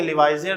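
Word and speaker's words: Lavoisier: इसकी स्पेलिंग में लिवाइजर लिखेंगे लेकिन पढ़ेंगे इसको लिवाइजे।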